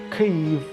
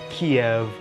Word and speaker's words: Kyiv: So Kyiv or Kyiv is much better than Kiev, because Kiev is really asserting that Russia still has some control.